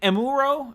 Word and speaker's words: Amuro: the shows about amber amber and Muro and Amuro I love when people in videos pronounced wrong to a fan